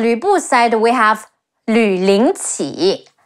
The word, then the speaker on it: Lü Lingqi: Oh, and on Lü Bu's side, we have Lü Ling Qi, Le Yu Lü, Le Ying Ling, Qi Yi Qi, Lü Lingqi is a fictional name